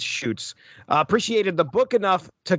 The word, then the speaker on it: Schutz: Kamiko Comics editors Bob Schreck and Diana Schultz, I pronounced that wrong, I think it's Schutz, appreciated the book enough to commission Siegel's next work, The Amazon, an eco-fable drawn by artist Tim Sale.